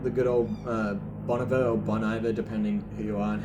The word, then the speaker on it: Bon Iver: Yeah, and there was even, like, sometimes you get the good old Boniver or Bon Iver, depending who you are and how you Bon pronounce Iver. it. Bon Iver.